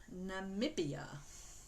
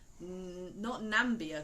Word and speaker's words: Namibia: Namibia. Not Nambia, because Nambia is a place as well, isn't it? This is Namibia.